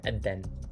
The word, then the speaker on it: Adhan: Adhan. Adhan. Adhan. Adhan. That's just how it's spelled.